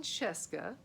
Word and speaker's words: Scieszka: warp trio series now john cesca which rhymes with fresca if you had trouble